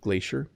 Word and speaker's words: glacier: So notice how I'm saying it, glacier. I pronounce it with an SH sound, glacier.